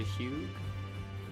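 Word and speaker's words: Hewg: Talk to Hugh. That's how you say his name.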